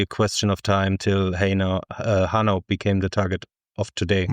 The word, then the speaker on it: Hanau: Where exactly is Hanau? And apologies for my terrible pronunciation, Thomas. No problem with the pronunciation. The city of Hanau is located east of